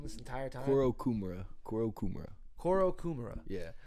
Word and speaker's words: Kourokumura: So have I been pronouncing your fucking name wrong this entire time? Kourokumura. Yeah. Not Kourokumura.